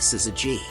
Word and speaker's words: syzygy: means yolk together and it's pronounced like sizzy G totality is the term